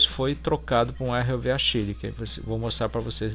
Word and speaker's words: Achille: Que substituiu depois o RCV225, ROV Achille foi utilizado no brasil em 91 pela Comex substituindo o RCV225 no DSV FlexService1 para acompanhar o lançamento de linha. Alguns pronunciam Akile mas é Achille.